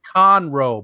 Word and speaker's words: Conroe: my pick though in the back oh it's pronounced conroe by the way ed ben's yelling at you